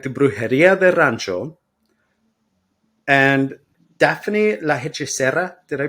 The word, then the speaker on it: Daphne La Hechicera: All right, a practical guide to Brujeria de Rancho and Daphne La Hechicera. Did I pronounce that right?